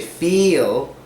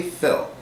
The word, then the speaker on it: Phil: Some people say feel, but it's actually Phil. And what helps is keeping your mouth from widening.